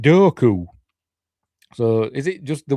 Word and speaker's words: Dooku: Everybody says it's Dooku. George pronounces it Doku.